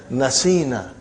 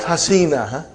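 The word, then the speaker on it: نسينا: you pronounce now brother you will pronounce as naseena and not hasina okay and then rest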